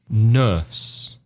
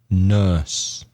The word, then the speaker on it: nurse: electrician electric ista mm-hmm nurse infirmary in for Mara again another difficult vowel sound Oh nurse nurse the same as in turn nurse pharmacist or chemist